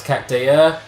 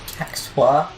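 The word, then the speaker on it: Cactuar: Is it Cacktwar? I've always said Cactar. It's a weird spelling. It's C-A-C-T-U-A-R. So phonetically, that'd be Cacktwar.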